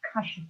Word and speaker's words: Kashf: So I went to see a spiritual advisor, and he said what I was going through was called Kashf. It's spelled K-A-S-H-F, or Mukashafa.